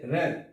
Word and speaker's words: wraith: তাহলে আমরা এই ক্লাসের মধ্য দিয়ে জানতে পারলাম যে সকল শব্দের w থাকবে, শব্দটা লেখার সময় w থাকবে কিন্তু উচ্চারণ সময় w এর উচ্চারণ হবে না।